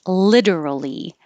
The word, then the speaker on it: literally: this kind of way it's definitely exaggerated and stretched out and the t changes to a d like that is literally so cool like that